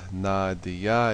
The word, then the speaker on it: Nadia: as maya's best friend nadia's pronounced nadiya it is the english